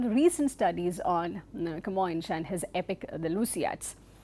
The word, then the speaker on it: Camões: This historical epic, the Lusiads, was written by Camões, and this is how this name is pronounced, Camões.